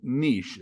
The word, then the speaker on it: niche: Today, our topic is going to be on, something I think is kind of important, and it's the niche practice, or niche, as some people pronounce it.